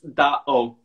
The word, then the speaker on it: DAO: So basically it's DAO. DAO, okay. Yeah. But the full name would be Da Origins, right? Yeah, DAO is like a short term for Da Origins.